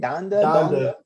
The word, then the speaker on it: Donda: Donda.